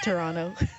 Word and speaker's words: Toronto: Atlanta it's like atanta it reminds me of the Toronto versus Toronto pronunciation there's no te's the te is clearly the tea is clearly theirs there Lost in Translation 8 this is Moran from the lounge as someone from Toronto it's Toronto sorry was that Toronto